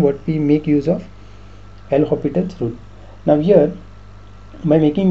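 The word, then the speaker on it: L'Hôpital: there is a concept known as that is l hospital's rule l so while pronouncing it it is l hopital's rule most of the students say it in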